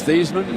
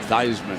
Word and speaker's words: Theismann: I was in Chicago when they changed his name. A legendary sports information director wanted it to rhyme with Heisman. Right. So forevermore it became Theismann as in Heisman.